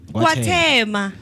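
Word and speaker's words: KwaThema: How do you pronounce it? Kwatembe.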